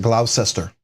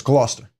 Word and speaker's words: Gloucester: but if you look at it it everyone's pronounced it glaucester but it's Gloucester so you know there's everyone has a place